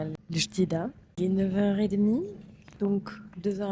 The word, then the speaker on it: El Jadida: On fait notre première arrêt en gare de El Jadida, prononcé en darija El Jadida.